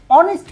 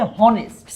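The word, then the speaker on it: honest: হয়, যেমন ধরো এইচ, এখানে কিন্তু এইচ উচ্চারণ হচ্ছে না, উচ্চারণ হচ্ছে ও। অনেস্ট, আমরা বলছি না যে হনেস্ট।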